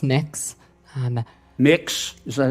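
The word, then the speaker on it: Mx: what you're you're proposing it's pronounced mix um mix is that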